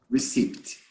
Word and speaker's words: receipt: be careful not to confuse recipe recipe with receipt brazilians always confuse recipe hobart recipe recipe okay a receipt a receipt i don't pronounce the p but i write the b